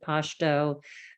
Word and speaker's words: Pashto: There are two official languages, Dari and Pashto, or some people pronounce it Pashto.